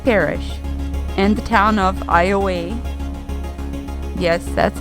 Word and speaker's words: Iowa: We enter Calcasieu Parish and the town of Iowa. Yes, that's how it's said, Louisiana, not to be confused or pronounced like the state of Iowa.